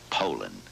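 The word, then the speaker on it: Poulan: Poland and for over 30 years they've been mispronouncing our name so we'd like to remind you that our name is Poland and for a tough dependable chainsaw Poland is the only name you need to remember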